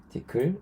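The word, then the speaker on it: Tcl: 이제 펄이라 자바스크립트는 그리고 이제 티클이라고 읽는데 티클 요런 것들이 있습니다 그리고 굉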